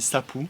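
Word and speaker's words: sapuq: je le prononce bien c'est presque comme le chapeau mais ça se dit sapou donc c'est ce qui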